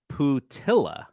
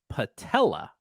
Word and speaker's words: Putila: manager now his name phonetically it looks like you would pronounce his name putilla but from what I understand it's patella like this all right Pete patella